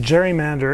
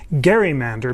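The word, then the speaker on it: gerrymander: our panel at the Constitution Center I said Jerry Mander and someone corrected me and said it should be pronounced Gary Mander because Elbridge Gary uh was the uh originator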